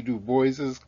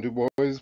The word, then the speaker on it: Du Bois: georgia shared in w.e.b du bois's gold medal win under the eiffel tower his name is pronounced american style like do boys he was born in